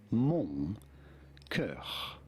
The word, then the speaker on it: mon cœur: In French, in France, we would say it as mon cœur, mon cœur.